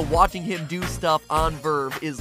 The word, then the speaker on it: VRV: It's called Verve, and it's spelled VRV, which is kind of stupid, but hey, naming stuff is hard, and it's a free app.